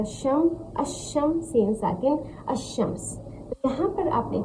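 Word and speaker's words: الشمس: इसको कैसे प्रोनाउंस करेंगे? हमज़ा शीन ज़बर अश, शीन मीम ज़ा शम, अशम, सीन साकिन, अशम्स।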